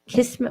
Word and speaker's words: kismet: Kismet. Well, I know in English it's pronounced kismet, but in my language, Armenian, and I think Arabic, it's kismet, which means destiny.